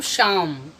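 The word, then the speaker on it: Psalm: तो इसमें दो लेटर साइलेंट है, पी और एल। तो बच गया आपके पास एस ए एम, तो इसे पढ़ेंगे हम शाम, मीन्स कीर्तन भजन।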